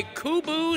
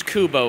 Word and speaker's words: CUBO: to color City by kubu CC people Planet profit exponential Evolution that's right it's it's Kubo folks I'm sorry I mispronounced it God damn it